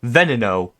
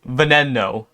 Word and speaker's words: Veneno: know I'm going to get flamed for my pronunciation of Veneno. Some people say Veneno, some say Veneno, some say Veneno, some say Veneno.